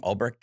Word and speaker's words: Ulbricht: Does Ross Ulbricht? Is that how you pronounce his name? Ulbricht. Yeah.